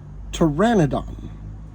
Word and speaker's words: Pteranodon: for me to learn this one's tricky because the p is silent Pteranodon a Pteranodon body was